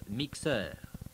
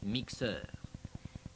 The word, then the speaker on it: mixeur: Then there is le mixeur. Same spelling, different pronunciation. Le mixeur.